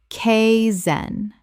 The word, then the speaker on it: kaizen: ron-day-voo rendezvous Word 211 kaizen Common mispronunciation: kay-zen Correct pronunciation: kay-zen Two syllables with the first sounding like the word sky without the S.